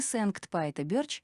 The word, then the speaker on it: Sankt-Piter-Burch: честь святого апостола Петра первоначальное Сент пайта бёрч было имитацией голландского произношения Кто бы сомневался в